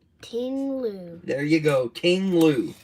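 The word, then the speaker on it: Ting-Lu: No, how you pronounce it? T I N G. Tingloo.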